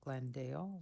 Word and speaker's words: Glendale: again for confirmation that the oral pronunciation of Glendale with two syllables is sufficiently different. from that of Glenda Lee with three syllables and does not pose